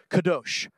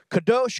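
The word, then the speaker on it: קָדוֹשׁ: original Hebrew word for Holy is this word pronounced kados kados kados kados kados is what uh holy the word for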